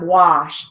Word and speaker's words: wash: Now, looking at line 16, we have wash. That is a broad A sound, ah. And it's spelled with an A.